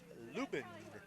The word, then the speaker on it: Lubin: I think I'm saying Lubin, right? They're correcting me. Number 24. That's a foul ball. Number 24 in that first game was Allie Lubin. And Allie is up to bat right now. I think I was saying Lubin before, but it's Allie Lubin.